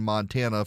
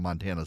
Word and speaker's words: Montana: not able to PR not able to pronounce Montana the way people from Montana say it Montana Montana okay to hear